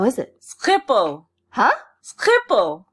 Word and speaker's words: Schiphol: Schiphol. Huh? Schiphol. It's like a guttural. Okay. Schiphol.